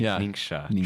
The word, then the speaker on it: Ningxia: correct your friends on how to actually say it properly ninga tranquil summer there you